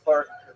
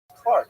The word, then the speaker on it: clerk: And he said, "You mean Clark." I said, "No, I mean cler, you know." He says, "It's pronounced Clark."